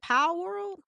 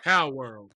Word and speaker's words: Palworld: Power World. Am I saying that right? Pocket Pair. Pow World.